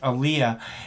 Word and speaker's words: Aaliyah: And I don't know if you remember the scene, but there's this scene with Aaliyah, and is that how you pronounce her name?